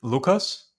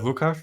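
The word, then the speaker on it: Lukáš: but you just said Lucas instead of lucash was I pronounce it wrong uh no my uh my name is pronounced lucash in our country but uh it's uh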